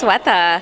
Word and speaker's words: Sweta: That's right, it's Sweta.